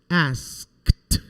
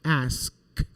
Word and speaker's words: asked: adjust we're going to pronounce this e d like a t like ask asked she asked asked equip equipped work